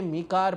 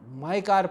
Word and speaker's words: MICAR: अब पता नहीं, इसको आप जो चाहें पढ़ लें, मी कार पढ़ लें, माई कार पढ़ लें, वो आपकी मर्ज़ी है।